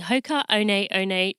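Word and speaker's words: Hoka One One: design you can get yours today by visiting Hoka Oh Nate Oh Nate calm for such running for real that's spelled H okay a oh and E o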